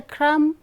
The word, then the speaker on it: crumb: Okay, if you say crumb, you are making a mistake in pronouncing the word, since the letter M is followed by B. Okay, B. So B becomes silent. Okay, not a crumb to be found, like numb, dumb. Okay, we don't stress on the word letter, sorry, B. So B is silent.